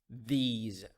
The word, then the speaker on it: these: have a tip here the s in these words pronounced as as the sound those those those these so we have this